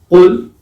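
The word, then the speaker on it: قل: Qul is a heavy kaf, and that means say. The kaf, the light kaf, qul, that means eat. That means eat. So just the difference in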